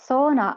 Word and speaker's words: sauna: Sauna, or actually sauna as we pronounce it, is probably the only Finnish word everyone around the world knows without knowing that it is Finnish.